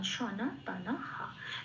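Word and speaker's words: সনাতনঃ: এখানে যেহেতু এটা লাইনের প্রথম লাইনের সেকেন্ড পার্টের শেষ অক্ষর, সেই জন্য বিসর্গটা যেহেতু শেষে আছে সেই জন্য এটা পূর্ণ হয় হিসেবে উচ্চারিত হবে। এবার বিসর্গের জন্য একটা হয় এলো, নয় আকার যেহেতু আছে না, তার সাথে মিলিয়ে হয় আকারটা বসলো, হা হলো, তাহলে আমি পেলাম সনা তানা হা।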